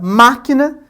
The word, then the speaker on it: máquina: Logo, na palavra máquina, inclusive com esse acento recai ali sobre o má, nós temos que esse ma é a sílaba tônica, portanto ela é uma palavra proparoxito, né?